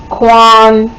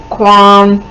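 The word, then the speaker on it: K'wan: uh post was Flirt by um Tracy Brown Quan and Angel Mitchell okay so uh that yeah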